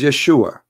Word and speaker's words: Yeshua: pronounce the correct word the correct word in the Hebrew is Yeshua as simple as that